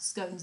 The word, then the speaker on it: scone: Do they not talk about scones and scones? Oh, they're uncivilised. Uncivilised. So it rhymes with gone, so it's scone.